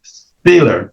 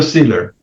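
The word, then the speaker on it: Szilard: Biden había un comunista que se llamaba Leo Steer se escribe S T I L A R D leo Siler el fundador de una organización que se llama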